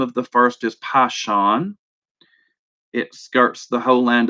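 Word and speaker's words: Pishon: it but verse 11 I'm going to pronounce it the way I have always pronounced it the name of the first is passion it skirts the whole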